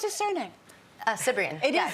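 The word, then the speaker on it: Cibrian: How do you pronounce his surname? Cyprian. It is Cyprian.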